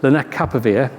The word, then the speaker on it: lenacapavir: It's called lenacapavir, and I wrote it out phonetically for myself here because I've really struggled to say it.